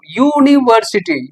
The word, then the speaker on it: university: Sound बताइए किस चीज का है? वाउल साउंड है या कॉन्सोनेंट साउंड है? बिल्कुल, क्या पढ़ रहे हैं इसको? यूनिवर्सिटी, या का उच्चारण आ रहा है, यूनिवर्सिटी।